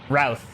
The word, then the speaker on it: Routh: It's pronounced like South, but starts with an R. Routh.